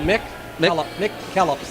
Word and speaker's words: McKellips: It's Mick, just like it's spelled, Mick Kellops. McKellips.